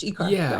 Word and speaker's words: ICAR: and So going back to ICAR, am I pronouncing her ICAR right? Yeah. It's the acronym for every campus of refuge. ICAR.